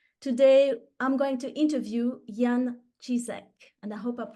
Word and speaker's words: Jan Cisek: It's Alexandra Berthold, and on behalf of the Feng Shui Society, today I'm going to interview Jan Cisek, and I hope I'm pronouncing the name correctly.